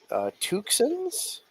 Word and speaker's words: Tucson: No, for real, we have two Hyundai Tucsons and a Jeep Liberty and a Toyota Sequoia. I gotta be pronouncing this incorrectly. Tucsons. Tucson, like Arizona.